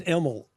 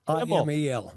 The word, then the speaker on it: Imel: It's pronounced Imel. I M E L.